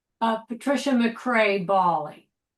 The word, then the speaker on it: Baley: Uh, Patricia McCrae Bali. And Vero, how do you say your last name? Vero Ball. Yeah. Okay. So, you say it the same way. Yeah. Actually, in Ukraine, in Ukrainian is ballet.